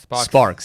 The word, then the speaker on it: SparX: What's the right way to say it? SparX.